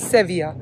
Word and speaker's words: Sevilla: I have been seeing सेविया सेविया since the beginning और पापा बोल रहे थे सर्विल एंड सर्विल is British pronunciation and ये लोग का खुद का जो एंडलुसियन प्रोनाउंसिएशन है स्पेनिश दैट इज सेविया तो जो भी आप